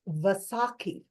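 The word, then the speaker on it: Vaisakhi: Last week was also the celebration of the sick festival of let me see I don't want to mess up the pronunciations. It's Vasaki.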